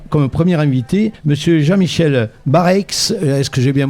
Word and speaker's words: Barreix: Pour ce faire, on a comme premier invité Monsieur Jean-Michel Bareix, est-ce que j'ai bien prononcé ce nom, tout va bien?